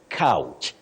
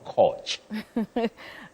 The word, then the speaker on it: couch: say coach coach coach no you say couch c o u c h couch the couch to lie on the couch the doctor's couch not coach indeed couch is the word not coach all right moving to